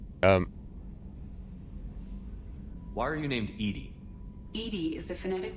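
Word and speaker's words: EDI: a specific inquiry um why are you named Ed Ed is the phonetic pronunciation of e no that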